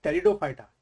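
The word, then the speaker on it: Pteridophyta: आपने इसी तरीके से टेरिडोफाइटा ये आपका लिखा है पी साइलेंट होता है डो फाइटा का जनरल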